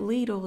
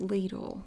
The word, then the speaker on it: Lidl: of the stores name I did confirm with three employees in the Lidl store that ladle is pronounced ladle that's what they told me and I figured they don't know then we're in trouble